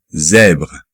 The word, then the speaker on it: zèbre: Parce que la lettre Z, au moment de le prononcer en français, il y a une petite vibration.